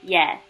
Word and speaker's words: 예: 야 and E will make 예.